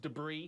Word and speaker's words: debris: that video it's pronounced debris I don't know why I thought that s was a z sound but I did another